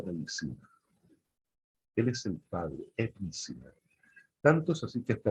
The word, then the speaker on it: Ibn Sina: Este personaje persa se llamaba Ibn Sina, conocido en Occidente como Avicenna. Ibn Sina. Iglae, ¿lo entendiste, Iglae? Se escribe I-B-N, Sina.